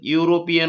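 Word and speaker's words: European: सुरुवात झालेली असेल तर त्याचा प्रोनन्सिएशन काय होतो उच्चार काय होतो तर युरोपियन होतो म्हणजे यु चा उच्चार होतो य चा उच्चार उच्चार होतो मग तो य काय आहे तर स्वर नाही व्यंजन आहे त्यामुळे इथे ए हे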